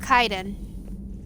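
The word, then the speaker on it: Kaidan: please so in skyrim there's a person named caden except his name is pronounced kaiden same spelling as this but you know hey shepard just different uh you know way of saying it well i didn't talk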